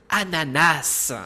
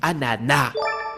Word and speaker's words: ananas: Dans la réalité, on ne devrait pas dire ananas, mais ananas, du moins officiellement, car tellement de gens font l'erreur qu'on l'entend plus communément que le bon usage.